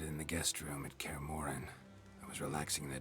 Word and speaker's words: Kaer Morhen: Kaer Morhen is how it's pronounced.